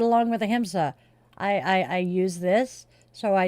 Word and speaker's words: ahimsa: And our word is ahimsa. It's spelled Ahimsa.